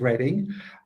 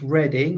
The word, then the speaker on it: Reading: at the University of Reading. Just to say it's pronounced reading, although you might read it as reading.